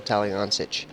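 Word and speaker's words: Taliancich: Talked to Michael just a few minutes ago, and he told us how to say his name, and it is Michael Taliancic.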